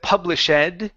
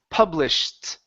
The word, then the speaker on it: published: Instead of published, this is published. Published. Yes. With a t sound.